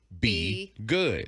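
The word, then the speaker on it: BeyGOOD: It looks like it rhymes with hey. But her foundation, to where they provided the $2.5 million for fire assistance, is Bey good. Okay. It's Be Good.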